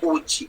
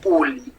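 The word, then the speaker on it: ulli: También en náhuatl la palabra uli, pero es con doble L, solo que no se pronuncia uchi, sino uli, significa hule, caucho, y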